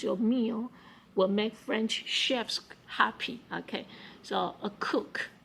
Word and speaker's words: chef: meal will make french chefs happy okay so a cook okay or you can call it as a shift it's a french word okay so ch is pronounced like sh so chef okay uh so yeah